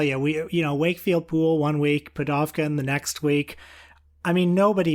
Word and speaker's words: Pudovkin: Pudovkin, I think. Pudovkin, there you go.